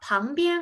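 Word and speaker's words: 旁边: 우리 옆쪽 중국어로 방비엔이라고 해주시면 되는데, 우리 보시면 방 같은 경우는 P잖아요. F 발음 절대 하시면 안 돼요. 방비엔이라고 해주셔야 되고, 앞쪽은 前边, 그 다음 뒤쪽은 后边이라고 해서 지금 비엔의 성조가 빠지는 거 보이시나요?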